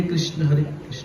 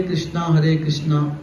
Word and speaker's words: कृष्ण: हरे कृष्ण कृष्ण कृष्ण। देखो एक होता है हरे कृष्णा, कृष्णा भी नहीं बोलना है आपको, कृष्ण बोलने का बारे में।